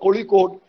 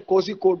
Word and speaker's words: Kozhikode: Or when they talk about Kozhikode, they always say Kozhikode because they read it literally.